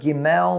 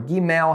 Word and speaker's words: gimel: is representative of the letter gimel or gimel, however you want to pronounce it. There's a couple different ways to pronounce it depending on your dialect, so don't flip out on me about that.